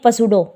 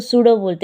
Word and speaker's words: pseudo: इसको कई बच्चे क्या बोलेंगे, पसूडो कई क्या बोलेंगे, पसूडो, लेकिन ये पसूडो नहीं है, इसको सूडो बोलते हैं। पी साइलेंट होता है बेटा इसके अंदर, ठीक है।